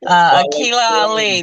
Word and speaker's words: Aquila Ali: And I'm talking about another daughter of your sister, Aquila Ali. Did I pronounce that right? Assalamu alaikum. Akila Ali. That's what I was told was the proper pronunciation.